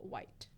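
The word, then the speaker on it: Wight: But yeah, he was talking about the Paul Wright. Is that his name? Yeah, that's his real name, Paul White. I keep saying right, but there's no R in there.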